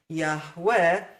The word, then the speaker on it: Yahweh: And just keep in mind, I'm not questioning the pronunciation Yahweh. I've already shown you Yahweh cannot contract to Yahu, and this comments in Yah and Yahu demand that we have a patach as the first vowel in the Creator's name. There's no question about the true pronunciation Yahweh.